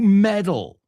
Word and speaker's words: meddle: I don't like people who meddle. So medalla, M-E-D-A-L, metal, M-E-T-A-L, suenan exactamente igual en inglés americano.